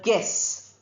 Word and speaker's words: guess: Look at the word guess. We don't say gu. Uh sound is not there.